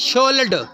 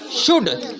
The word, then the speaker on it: should: लेकिन इसमें L फिर से साइलेंट हो जाता है, इसे हम इसको शोल्ड नहीं पढ़ते, क्या पढ़ते हैं? शुड, SHOUD, SHOU, L को साइलेंट कर देते हैं, क्या होता है L? तो क्या पढ़ने होता है ये वाला वर्ड? शुड, SHOULD, L बीच में साइलेंट होगा।